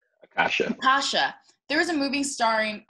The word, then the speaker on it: Akasha: If there was a movie starring Azaka, I keep on saying her name wrong. Akasha.